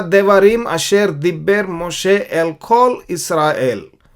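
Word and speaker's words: דברים: उसका मतलब ये है देवारिम।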